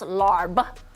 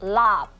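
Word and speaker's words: larb: going to say this on TV it's not pronounced lar say it one more time for everybody at home it's not pronounced lar it's pronounced lob lob lob okay there you go we're we're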